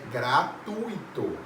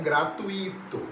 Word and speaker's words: gratuito: gratuito muita gente fala gratuito coloca como se tivesse um acento agudo no i não existe isso correto é gratuito não gratuito tudo bem e a